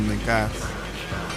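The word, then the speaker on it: Negus: Nagus or Nagas, as it's pronounced in Western culture, is a title in Ethiopian royalty meaning king or emperor.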